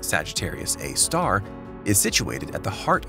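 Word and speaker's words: Sagittarius A*: hole Sagittarius A star frequently referred to as sgr a asterisk and pronounced Sagittarius A star is situated at the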